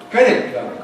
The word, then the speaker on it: credit card: And we hear the cardo as if the main stress is on cardo. But in English it's on cred. Credit card, credit card, credit card, credit card, credit card.